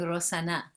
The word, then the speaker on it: Rosh Hashanah: morocco instead of saying rosh hashanah you'll hear women saying rosanna almost as if it were a girl's name you know like rosanna